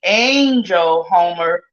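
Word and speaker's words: Angel Holmer: I said A-G, Angel Homer. That's spelled ANGLEHOLMER of Indianapolis, Indiana.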